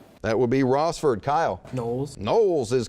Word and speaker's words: Knowles: Knowles.